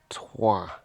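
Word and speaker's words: Troyes: I am at a place called Tua, which is spelled T R O Y S and sounds nothing like it looks in English.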